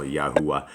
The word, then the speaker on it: Yahuwah: But that's closer than God, and that's how you would pronounce it as well, Yahuwah.